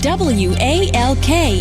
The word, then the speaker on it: walk: the word it becomes what stock right and w a l k is walk s a l t spells salt